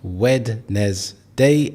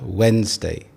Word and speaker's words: Wednesday: So here we have Wednesday. There are two syllables here.